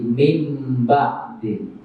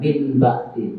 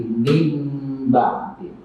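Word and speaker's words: مِنْ بَعْدِ: Jadi mim ba'di. Jadi cara bacanya nun sukun diganti dengan mim dan ditahan mim ba'di. Jadi bukan min ba'di, tapi mim ba'di.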